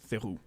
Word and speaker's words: Theroux: You should know how to pronounce that. It's not Theroux. It's Theroux.